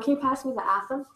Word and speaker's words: athame: Ron, can you pass me the Atham? Am I saying that right, Atham? Okay. Or Athame. Yeah, I've heard it pronounced Athame.